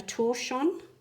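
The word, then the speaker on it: tortillon: Um now, I believe um these are called a torchon. I'm not sure if that's the correct pronunciation, but it's spelled T O R T I L O N, I think.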